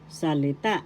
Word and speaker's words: salita: ex third syllable salita third syllable has the accent salita so that's How pronounce